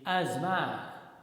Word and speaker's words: asthma: as ball right okay another word a s t h m a generally there's people in our society they speak this word as asthma asthma but it's not correct the correct pronunciation of this word is asma asthma right okay the next